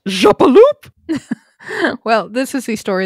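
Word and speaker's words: Jappeloup: I believe it should be pronounced Jappaloop!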